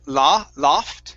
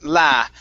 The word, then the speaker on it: laughed: Instead of loft, it's laughed. Laughed.